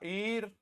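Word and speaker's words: heir: हमने लिखा आवर हमने लिखा ईर हमने लिखा ऑनरेरी इन सब में एच साइलेंट है ऑनेस्ट ऑनर ये ओ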